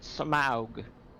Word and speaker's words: Smaug: It's pronounced Smaug.